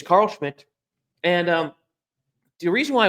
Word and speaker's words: Schmitt: with the proper way of spelling Schmidt, the 2 T's.